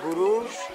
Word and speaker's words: Gurung: trekking these are the gurung people how is the famous gurung is pronounced termina en "ng" Gurung They are the local